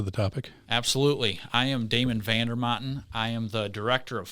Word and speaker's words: Damon Vander Maten: one of my partners in Pipestone Holdings here, Damon Vander Maten. Did I say that correctly? That's right. Is that the correct Italian pronunciation?